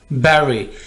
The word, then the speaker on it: bury: दफन करना, bury, अगर इस वर्ड को आप ऐसे बोल रहे हैं बुरे, तो ये बिल्कुल गलत है, दफन करने को इंग्लिश में bury कहती हैं, bury।